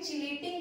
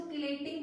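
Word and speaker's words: chelating: क्लेटिंग देखो लिखा है चिलेटिंग जाता है बट साइलेंट होता है, इसको क्लेटिंग बोलते हैं, क्लेटिंग लिगेंड, ठीक है।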